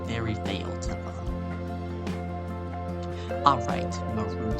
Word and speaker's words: Marud: Actually, his name was Marud. That's how you say it, Marud. M-A-R-U-D, Marud. Like, you're rude.